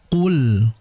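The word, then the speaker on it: قُلْ: Sehingga jangan sampai kita membaca qof di situ dengan disertai desisan yang jelas. KL kul tidak. Yang betul qul qul. Karena qof ini memiliki sifat jahr atau tidak mengalirnya udara ya, tertahannya udara. Sehingga hati-hati qul qul qo qola qul qul ya sehingga tidak boleh dibaca qul.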